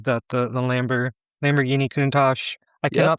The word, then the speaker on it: Countach: The the Lamborgh Lamborghini Countach I cannot pronounce it. Maybe you can pronounce the the quarter cord. I'll figure it out. Lamborghini Countach.